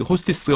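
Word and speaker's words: ὅστις: 그래서 관계대명사가 들어갈 자리에 갑자기 호스티스가 오고 그래요. 요거 외우는 건 간단하죠. 그러니까 호스티스 하면은 뭐 그런 단어를 술집에서 사용하는 단어를 쓰고 싶지 않은데 발음이 너무 똑같아요.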